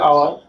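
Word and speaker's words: hour: যেমন এখানে আওয়ার, আমরা হাওয়ার বলি না, হ্যাঁ, অনেস্ট ম্যান, নট হনেস্ট ম্যান।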